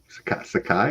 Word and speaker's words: Sakai: a couple weeks ago s Sakai is how you say his name zai oh Stan Skai